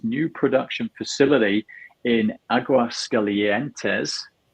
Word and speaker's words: Aguascalientes: Did he pronounce that right, Joseph? Yeah, that's good. That's good. I think everybody. Aguascalientes or Aguascalientes, señor.